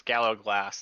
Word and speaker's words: Gallowglass: I feel like they need to address Scotland, because Gallowglass is definitely one of their things, and I know Scottish people pronounce it that way.